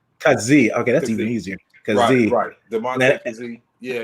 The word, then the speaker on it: Kazee: how do you pronounce correctly that's the correct pronunciation of his name khazi it's kazee kazee okay that's even easier yeah yeah i got